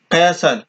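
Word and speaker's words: castle: ভাষায় গসার বলে গসার বাংলা অর্থ দৈর্ঘ্য দুর্গ উচ্চারণ ডি ইউ আর জি ও দুর্গ কাসাল ক্যাসাল কে এস টি এল ই ক্যাসাল এই ক্যাসালের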